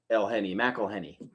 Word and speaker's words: McElhenney: But yeah, whenever you have an MC followed by a vowel, okay, or a vowel sound, okay, it's pronounced Mac. Okay. So McElhenney.